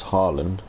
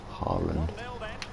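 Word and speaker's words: Haaland: to come back around how to pronounce harland harland harland or erling harlan i don't know if that's necessarily how the norwegians pronounce it however after that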